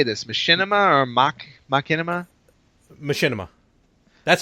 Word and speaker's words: Machinima: Machinima.